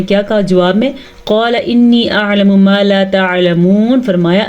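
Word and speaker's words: إني: انی گھننے کے ساتھ ساتھ مد کا بھی دھیان رکھنا ہے.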